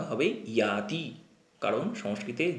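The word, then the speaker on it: যাতি: আরেকবার পড়ি, এখানে দেখো, লক্ষ্য করতে হবে জাতি, এই জাতি উচ্চারণটা হবে ইয়াতি, কারণ সংস্কৃতে জ বলে কোনো উচ্চারণ নেই বা সেটা ইয়া হিসাবে উচ্চারণ করতে হবে, ইয়াতি। বিদ্যা দদাতি বিনয়ং বিনয়াৎ ইয়াতি পাত্রতাম পাত্রত্বাৎ ধনমাপ্নোতি পাত্রত্বাৎ ধনমাপ্নোতি ধনাৎ ধর্মস্তত সুখম।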